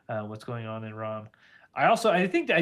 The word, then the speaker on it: Iran: first thing is uh it is pronounced Iran not Iran correct George